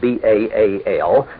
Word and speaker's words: Baal: was the Hebrew word Baal in English spelled b-a-a-l and usually pronounced Baal it means master or